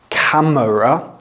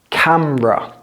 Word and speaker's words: camera: Don't pronounce it camera. Pronounce it camera. Camera. Say hello to the camera.